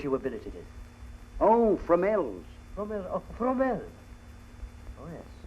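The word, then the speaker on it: Fromelles: Tell me, Burton, how do you pronounce the name of that place you were billeted in? Oh, Fromel's.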